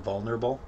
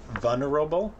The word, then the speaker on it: vulnerable: on vulnerable the word vulnerable that a lot of people don't pronounce the l love the letter L invulnerable they say vana Robo mmm and I looked